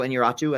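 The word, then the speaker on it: Iñárritu: And Alejandro Inarritu, I think is how you pronounce his name.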